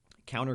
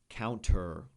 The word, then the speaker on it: counter: dialect of English but the NT in English usually we don't pronounce the T counter um cultures are